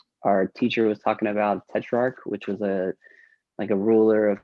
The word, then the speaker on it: Tetrarch: Tetrarch. Yeah, I think the CH throws off some people, but you know, but it's getting a lot better.